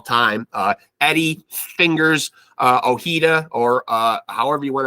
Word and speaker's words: Ojeda: pronounce his last name it looks like oh heeda to me that's how I would pronounce it thinking back to New York Met great and uh Keith Hernandez his old uh teammate Bob Ojeda uh Eddie goes by